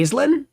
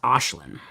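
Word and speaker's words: Aisling: And like it's spelled like a I s I N. No. Are you gonna say Alen? No, you're wrong. It's Ashlin.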